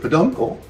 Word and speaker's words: peduncle: a straight face um your uncle rhymes with peduncle so so that's right